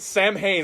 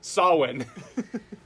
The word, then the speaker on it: Samhain: look at ye no it will never be pronounced the way it actually looks actually pronounced saw when correcting that yes they don't say it Samhain I'm like thank you